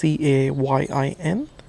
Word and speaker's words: Cayin: Pardon me if I pronounced it wrong. It's Cayin.